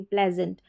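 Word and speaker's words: pleasant: पी एल ई एस ए एन टी प्लेजेंट।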